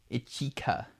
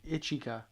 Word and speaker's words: Ichika: Ichika. That's how it's pronounced. Ichika.